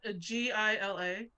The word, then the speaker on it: Gila: an economics roll yeah g-i-l-a yeah yeah a gila is what we would pronounce it where I grew up yeah yeah they're um